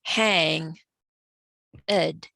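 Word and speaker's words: hanged: ed man for me i relate it to more in the syntax of making hang ed two syllables instead of one at least in the case of the tarot okay and what inference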